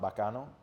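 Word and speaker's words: bacano: Uh, so the name Bakano came from, it's really pronounced Bakano, but I spelled it B- A H K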